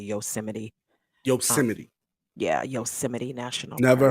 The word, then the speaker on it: Yosemite: so um you know that's why I said Yo's might because that's what a lot of people call it because that's how it's spelled but it's actually Yosemite Yosemite yeah Yosemite National